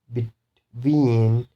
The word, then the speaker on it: between: So the stress will be on second syllable. So you should stress on this one. Receive, receive. And between, between, present, present.